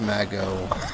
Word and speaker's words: Mago: it run Mago run and yes it is pronounced Mago I I just like Mejo majo is fun